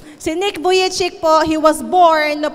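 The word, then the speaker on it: Vujicic: butiki Joke lang po Nick buyi chik Ayan po ang tamang pronunciation si Nick buy chik po He was born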